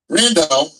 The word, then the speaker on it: Brandão: Brandao rhymes with Sandow.